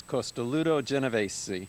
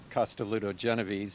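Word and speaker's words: Costoluto Genovese: say the name on this one because it's costoluto geneves oh wow or you can say costoluto geneves if you want an English pronunciation but costoluto means ribbed and it's the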